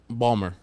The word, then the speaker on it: Baltimore: never been to Baltimore oh Baltimore Balmer Baltimore two syllables it's a it's a